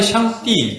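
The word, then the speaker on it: 上帝: 네, 그게 그 샹다이 샹띠 중국 발음은 샹띠라고 하는데 이제 미국 사람들 샹다이라고 하는데에 대한 문헌이 있는데 이런 문헌이 있대요.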